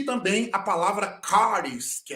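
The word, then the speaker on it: χάρις: que é graça favor Vale ressaltar que alguns pronunciam haris outro eh eh haris né n duas pronúncias Mas a nossa pronúncia é caris porque o ch é o k ele tem um som forte cultural Ok então está aí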